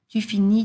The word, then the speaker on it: finis: So, please do not pronounce those S's and T's at the end, okay?